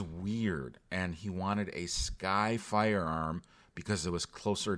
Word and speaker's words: SCCY: Next, I want to talk about a firearm manufacturer pronounced Sky.